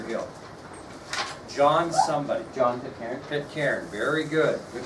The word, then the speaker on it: Pitcairn: Pitcairn, very good. Good pronunciation too, John Pitcairn.